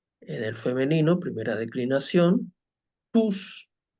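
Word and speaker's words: τούς: el femenino primera declinación tus decimos tus y no Tous Porque si recordamos desde primer año este dictongo se pronuncia u la omicron y la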